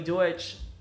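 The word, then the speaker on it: Deutch: Rather than in this movie, Zoe Deutsch. I always say Dutch, but I pronounce everyone's name incorrectly, so.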